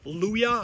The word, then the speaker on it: Luya: government funding i think it's spelled l-u-y-a luyah i think it's how it's pronounced and spelled uh they got uh